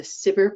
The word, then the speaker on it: SBIR: these two programs and sometimes sbir program is pronounced sipper so if you hear someone talking about the siber program that is the same thing as the sbir program the sttr program started